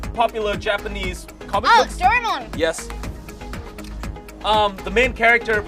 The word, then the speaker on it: Doraemon: Doraemon. Oh, Doraemon. If you want to get technical, sorry.